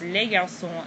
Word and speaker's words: les garçons: And once again you have an S, but the S on the end of the noun here is not pronounced, nor is the S here. You don't pronounce any of those. You don't hear them.